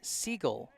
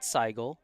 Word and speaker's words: Siegel: correction on brookline's side number 20 is pronounced harrison siegel not seigel so i appreciate the